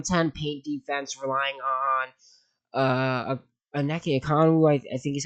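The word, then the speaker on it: Onyeka Okongwu: This is a team that has a bottom 10 paint defense, relying on Aneke Okongwu, I think is how you say his name.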